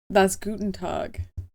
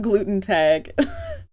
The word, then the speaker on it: Guten Tag: I'm pretty sure that's Guten Tag, not gluten tag.